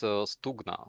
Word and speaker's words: Stugna: And so for some reason, I'm kind of stuck saying Stug. So is it Stug or Stug, Starsky? It's Stugna. Stugna is the name of the river.